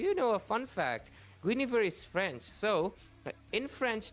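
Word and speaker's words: Guinevere: And because of that, you actually do not pronounce the N and the I's. Her name is actually Gav.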